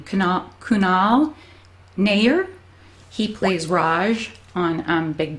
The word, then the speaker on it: Kunal Nayyar: from I follow I just looked up the pronunciation of it cuz I never knew how to say his name cannot Kunal Nayyar he plays Raj on Big Bang Theory and